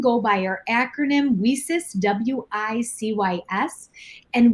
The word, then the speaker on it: WiCyS: We often go by our acronym WiCyS, W-I-C-Y-S, and we do pronounce it WiCyS, like we sisters, and that's exactly what we are.